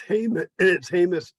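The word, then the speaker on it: Jemez: It's Hamus Springs. Ah, hey, J is an H.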